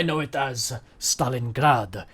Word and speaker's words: Stalingrad: know it as Stalingrad," he puts an emphasis on the grad of Stalingrad. And like for us, it's just like, oh yeah, Stalingrad or Stalingrad or however you pronounce it. But he's like, Stalingrad.